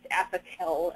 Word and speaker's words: Apoquel: There's a very, very new drug out there that was just very recently announced, Apoquel. I think I'm pronouncing that correctly, A-P-O-Q-U-E-L, it's spelled.